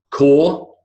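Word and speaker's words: corps: Fifth, core. We don't pronounce the I did the silent P, and then biscuit, silent U.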